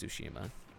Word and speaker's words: Tsushima: exclusives coming out, like Ghost of Tsushima or Tsushima. It's Tsushima, I'm pretty sure. I always look up how to say it, and I say it correctly most of the time, but then when correcting myself, I say it wrong.